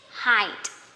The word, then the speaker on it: height: will pronounce this is height, but actually this is height, okay? Height. Different spelling, but you know, somehow the same pronunciation. High, height, okay?